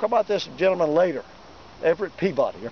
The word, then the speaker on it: Peabody: We'll talk about this gentleman later, Everett Peabody, or Peabody as they pronounce it in Massachusetts.